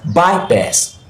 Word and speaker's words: bypass: The second example we have here is bypass, and this bypass we have here is a compound verb, and it usually stresses the second word. Okay, so since it stresses the second word, we are going to pronounce this bypass, bypass, or bypass, bypass, bypass.